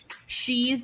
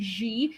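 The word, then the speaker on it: 习: And also, like, Xi's name, like fucking American reporters always say Xi. It's Xi. Beijing.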